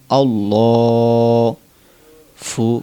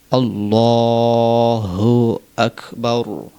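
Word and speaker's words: الله أكبر: এভাবে আল্লাহ আল্লাহ বললে হবে না বলতে হবে আল্লাহ ফু অনেকে বলে ফু যারা আরবি সম্পর্কে জ্ঞান নেই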